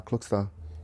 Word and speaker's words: Klokstad: another and yeah my old lady told me it's uh cookster how does that make